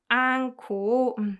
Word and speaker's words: 않고: The reason why I pronounce it like 코 is because 히읗 받침 combined with 히읗 produces k sound, right? So that's why this whole phrase together is pronounced 않고.